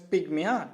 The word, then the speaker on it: pygmy: Its pronunciation is pygmy, correct it.